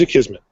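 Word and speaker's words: Akismet: So use a Kismet, which is A-K-I-S-M-E-T. Most people fumble on pronouncing that.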